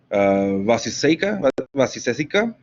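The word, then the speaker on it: Vaiśeṣika: Vasiseka, I think that's what you pronounce it, Vaisesika.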